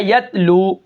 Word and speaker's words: یتلو: اس کے بعد جو ہمارا کلمہ ہے وہ ہے یتلو. اب یتلو کے ہجے کس طرح ہوں گے؟